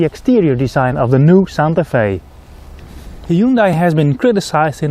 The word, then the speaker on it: Santa Fe: is the new Hyundai Santa Fe and that rhymes with it's very cold and gray today but don't you worry